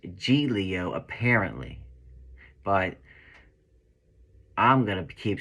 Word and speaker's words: Giglio: word wrong but yeah it's supposed to be pronounced G Leo apparently but I'm gonna keep saying Giglio I don't live in Italy it's almost like